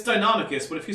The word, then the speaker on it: Deinonychus: It's Deinonychus, but if you say Deinonychus, I'm not going to complain about it.